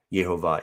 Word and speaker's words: Jehovah: i'm of the persuasion also like nehemiah that jehovah is the correct pronunciation but we do see variations on that